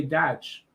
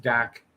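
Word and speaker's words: Dach: though you might say dutch or something like that so yeah you know it is what it is but it's pronounced dak like um d-a-c-k stand the man i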